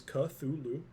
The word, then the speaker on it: Cthulhu: Well, Although, Cthulhu is correct. It is Cthulhu.